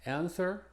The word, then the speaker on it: answer: Y en estas tres es muda: answer, sword, and to, que se pronuncia como las otras dos palabras que vemos ahí en paréntesis.